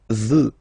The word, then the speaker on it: veux: Vouloir, first person, je veux. Final X not pronounced. Je veux. Tu veux. Final X not pronounced, the same form.